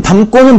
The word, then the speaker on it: 담고: 그래서 어떻게 발음이 됩니까? 담고로 발음이 되죠.